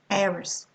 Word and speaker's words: heiress: You're not going to say honor, you're going to say honor, honest, honesty, air, heiress, hour, See, we can't hear, I mean, we mustn't hear the H pronounced here.